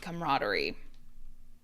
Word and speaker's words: camaraderie: It looks like it should have more syllables. So, I say comar. Camaraderie.